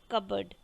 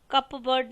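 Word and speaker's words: cupboard: अलमारी कबर्ड अलमारी कबड्डी कबड्डी में पीस साइलेंट है आप बोलेंगे कबड्डी कप वर्ड नहीं बोलेंगे बोलेंगे कबर्ड पीएस साइलेंट दब रूम वास केप्ट अंडर कबड्डी रूम मतलब झाड़ू झाड़ू कहां पड़ा था इन द कबर्ड rooms captain the kabaddi kabaddi beam अलमारी पी साइलेंट है कबड्डी बोलेंगे कबर्ड नहीं बोलेंगे कबर्ड आभूषण ज्वेलरी आभूषण ज्वेलरी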